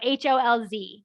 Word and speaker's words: Holz: So HOLZ, because that Z, remember, is pronounced like a TS.